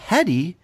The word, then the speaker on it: Headey: Headey he second-guessed himself he added the L and when you add an L when you add a letter that has no business being in there that's where it was no longer just a matter of pronunciation it was a whole different name so Lena Headey she's